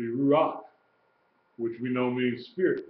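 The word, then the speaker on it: רוח: That'd be ruach, Mm-hmm. okay? Not ruha, Right. be ruach, which we know means spirit, breath, spirit, divine wind, okay?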